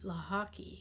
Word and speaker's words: Lochocki: rhode island you can write my name lahake and you spell it la hockey l-o-c-h-o-c-k-i and um you need